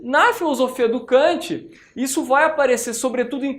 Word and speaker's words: Kant: O Baumgarten, galera, ele teve uma influência decisiva em relação à filosofia de Immanuel Kant, ou em alemão a pronúncia Kant, não é?